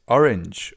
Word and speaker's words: Orange: next color, which is orange or in German. Orange. As you can see, the writing is exactly the same, only the pronunciation is a little different, orange instead of orange.